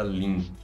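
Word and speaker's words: LINQ: linguagens de programação e eu tô falando link né eu não falei como que se escreve né a link a gente escreve ela assim ó você coloca aqui ó link com q de queijo no final tá aí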